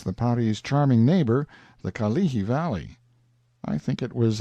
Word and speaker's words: Kalihi: a picture as the Kalihi Valley, pronounced Ka-lihi, stress on the second syllable.